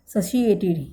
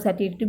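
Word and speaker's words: satiated: देखो जिसकी प्रोनाउंसिएशन है वो ऐसे ही होती है, सशिएटेड। ठीक है, तो सशिएटेड जो इसकी है वो इसकी प्रोनाउंसिएशन है। बाकी इसको कुछ लोग सैटिएटेड भी बोलते होंगे, लेकिन जो एक्चुअल में इसकी प्रोनाउंसिएशन है वो सशिएटेड होती है।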